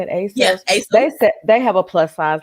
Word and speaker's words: ASOS: Yeah, ASOS.